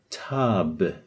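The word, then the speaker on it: تاب: So this, you can pronounce this as tab.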